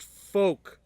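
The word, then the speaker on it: Fouke: anything like that, but it's pronounced Folk, Arkansas.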